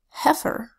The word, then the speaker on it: heifer: the e I phonogram makes a short e sound F and heifer the word heifer means a young cow so here we have h that says she I that says F if that says an ER that says her F or say it fast heifer here's another exception the